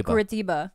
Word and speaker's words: Curitiba: I just learned how to say it properly because I kept Curitiba. Because I used to say Curitiba. Hi, it's Curitiba. It's Curitiba. Like a dumb American.